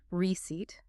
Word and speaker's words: receipt: And the shopper confidently, entirely ignoring the deceitful letter P in the spelling, says, "Printed is fine, thank you." Receipt, not receipt.